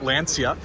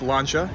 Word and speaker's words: Lancia: of people call this Lancia due to the spelling but it's actually pronounced launcha in Italian when you have the C in the eye it's actually a CH sound so you have elancha